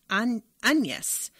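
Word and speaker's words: Agnès: Oh, Agnes is saying my name is pronounced Agnes. Like pinata. Don't like the English pronunciation. Agnes Leguillon. Is that right? I've never heard it pronounced that way with a silent G.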